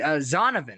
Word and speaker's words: Zonovan: zia uh z uh how do i pronounce that z zonovan excuse me not like donovan but with a z so zanovan knight uh